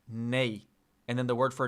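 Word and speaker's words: nie: And then yes is nay is nay. I was right. It's nay. Interesting. I think they pronounce it like nay or something. Can you hear that? Nope. I just like played an audio of it. Okay, never mind. It's like nay nay nay.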